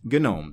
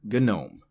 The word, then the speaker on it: GNOME: The G is silent. But this is not that word. This is an acronym.